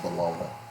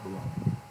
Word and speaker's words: bologna: It's actually pronounced bologna. It's bologna.